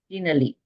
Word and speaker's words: Denali: So the emphasis is on the first syllable, so it's Denali.